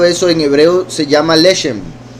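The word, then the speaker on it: לשם: hebreo se llama lesem lesem se escribe lamet Shin mem entonces podría decir la shem que significaría por el nombre entonces la piedra de Jacinto en hebreo se puede interpretar como por el nombre ahora bien con eso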